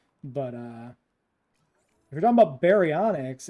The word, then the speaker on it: baryonyx: But if you're talking about baryonyx, it's Barry is in B-A-R-Y, like baryonyx, the way you spell it.